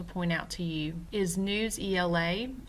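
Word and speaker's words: Newsela: The next website that I want to point out to you is News ELA. I've also heard it pronounced Newsella.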